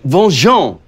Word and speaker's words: Van-Jean: It is pronounced Bonjour.